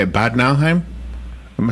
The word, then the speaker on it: Bad Nauheim: Bad Nauheim?